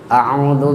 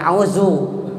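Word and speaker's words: أَعُوذُ: A'udzu, bukan auzu. Auzu mah itu za itu udah ganti.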